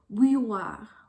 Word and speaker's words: bouilloire: And I think this word is especially hard to pronounce because it's got that special oo sound, some diphthongs in there like oui, oui, and the y sound as well as an R.